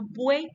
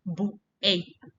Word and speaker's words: buey: Y la palabra buey tiene una sola sílaba. Esa U y esa E van juntas. No decimos buey, decimos buey. Todo esto tiene sus reglas.